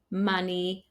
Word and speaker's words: money: For example, the letter O in writing in English is very often pronounced as A, so it should be written with the letter U, but it's not. For example, words like come, done, some, money, honey, mother, brother, oven, these are all pronounced with the sound A, not the O that you see in the writing.